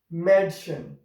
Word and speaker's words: Mädchen: If we have these dots, two dots on it, then we will pronounce it Madschen.